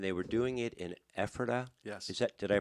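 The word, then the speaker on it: Ephrata: And they were doing it in Epherta. Yes. Is that Did I pronounce that right? That is correct. Yeah. Okay. uh Burdenhand Epherta on Old US30.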